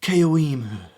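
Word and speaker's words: Caoimhe: Keoimu.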